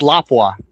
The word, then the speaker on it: Lapua: It's Lapua. That's how you pronounce it.